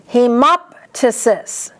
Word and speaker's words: hemoptysis: Hemoptysis. Underline MOP, that's the only way to say that word.